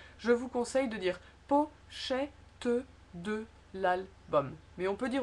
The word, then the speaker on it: pochette de: Si on ne le prononce pas, ça fait pochette de. Et souvent c'est en fait, je pense dans la réalité, on ne le prononcerait pas. Et le T et le D pratiquement deviennent une seule lettre. Donc ça serait presque pochette de. C'est une espèce de accentuation du TD de l'album.